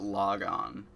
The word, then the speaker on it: Lagann: and too much Gurren Lagann. Like, actually it's weird. In this series, they pronounce it Logon, but everyone says Lagan.